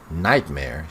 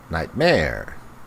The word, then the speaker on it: nightmare: It's interesting that she puts the stress on mare, not nightmare. It's nightmare. So the stress here is on the wrong syllable.